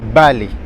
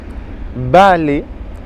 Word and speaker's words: vale: Balai. Balai. Vous voyez que je prononce comme un B, pourtant ça s'écrit avec un V.